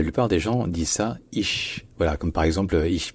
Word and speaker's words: ich: Et enfin, finalement, le ch à la fin n'est pas comme le ch français, n'est pas un ch.